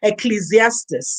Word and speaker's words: Ecclesiastes: Oh, I never know how to pronounce that. Ecclesiastes.